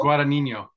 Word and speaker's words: Guadagnino: Guadagnino.